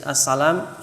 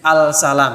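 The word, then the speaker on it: السلام: hai Hai untuk membedakan tapi sebenarnya yang al-salam tuh salah baca itu Hai saya terpaksa Dian ujjain gitu tapi sebenarnya dapat saat cara baca yang itu enggak sesuai dengan Tajwid kalau ada Al ketemu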